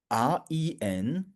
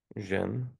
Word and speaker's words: 人: which means when you see this REN with the rising tone, the EN still sounds like in English, but the R sounds like the S in usual, which means, how would you pronounce it?